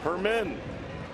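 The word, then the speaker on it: Germen: Gonzalez Hermin. The G is pronounced as an H.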